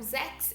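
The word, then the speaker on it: sechs: Então, zex, ele já tem um som de x, né? Desse K aí, né? Ele já tem um som de KS, né? Zex.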